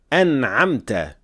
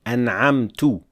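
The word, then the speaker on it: أَنْعَمْتَ: For the word an'amta, pay attention not to say an'amtu with dhamma because it completely changes the meaning as well. An'amta means you have bestowed.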